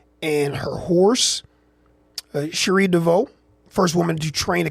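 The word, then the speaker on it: Cherie DeVaux: I just want to make sure that I say her name correctly and her horse Sheree Dvau first woman to train a Kentucky Derby winner with a golden attempo dead last to start the race.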